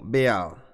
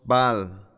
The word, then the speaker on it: Baal: Pero en el lenguaje cananeo trae el pensamiento en un sentido probablemente era pronunciado como Baal, pero decimos Baal, porque es más fácil de pronunciar.